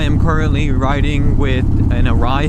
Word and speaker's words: Arai: Right now, I am currently riding with an Arai helmet. I'm pretty sure I'm pronouncing that right. A R A I A AI. It is honestly a fantastic helmet.